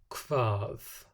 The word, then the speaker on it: Hvað: The first, which we've already seen in some of the conversations we've looked at, is a K sound, and that's when it's written as HV. Hvað, hvalur, hveragerði.